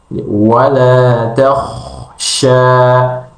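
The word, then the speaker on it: وَلَا تَخْشَ: Kemudian kesalahan selanjutnya yang sering terjadi pada pengucapan huruf kha, yaitu tidak mengalirkan suara dan udara ketika mengucapkan huruf kha. Justru sebaliknya, memutuskan, bahkan cenderung memantulkan ketika tidak dialirkan suaranya. Contoh bacaan yang benar adalah wala takhsha.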